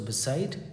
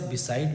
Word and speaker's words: beside: सो बिसाइड is equal to next to. इसे आप बिसाइड भी पढ़ते हैं, बसाइड भी पढ़ते हैं, दोनों करेक्ट है।